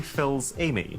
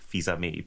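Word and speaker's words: Fils-Aimé: president of Nintendo America Reggie Phils Amy what I think it's actually pronounced Reggie fizi but I prefer my regie fi who came in hard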